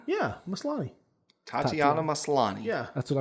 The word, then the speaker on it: Maslany: It's her first name is Tatiana Maslany. Yeah, Maslany. Tatiana Maslany. Yeah, that's what I'm gonna say. Anyways, Tatiana She Maslany plays She-Hulk.